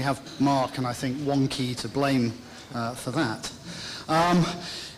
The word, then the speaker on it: Wonkhe: In case you're wondering, CG has a silent H like Wonkhe.